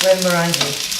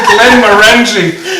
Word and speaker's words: Glenmorangie: Glenmorangie. Okay, beautiful. Yeah. Soft tea, right? Yeah. Glenmorangie.